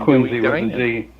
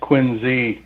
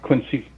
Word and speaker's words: Quincy: in quincy is surviving and yes it is pronounced quincy it's pronounced quincy not quincy this is this is boston so let me